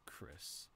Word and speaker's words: Chrys: name tag huh so it's pronounced like Chris but you spell it like chrysanthemum that's pretty sick it